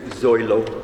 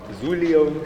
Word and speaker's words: Zoilo: hello my name is zoilo many people always say it wrong um I've heard everything from zulio Suzuki to Han swallow um um so